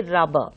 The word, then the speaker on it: rubber: So, generally many people tend to pronounce it rubber, account, bigger. So, so this is quite wrong. Okay. The reason being, in English, you have double consonants occurring side by side. So, whenever it is such a case, you should pronounce only one of these consonants. So, you should say rubber.